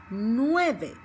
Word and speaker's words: nueve: To start getting used to the vowels together, like nueve, nueve, nueve, ue, nueve, okay?